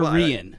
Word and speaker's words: Reyen: Is it Reyen or Reyen? It's Reyen, but I've heard it pronounced a million different ways. So I'm used to it's Reyen, in Spanish, the king is Rey, like R-E-Y.